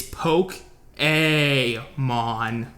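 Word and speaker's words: Pokémon: to do this together you have to just pronounce Pokemon properly it's poke a mon Pokemon why do you trigger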